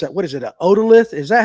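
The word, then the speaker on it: otolith: A odalith. Is that how you say it? Yeah. Oolith.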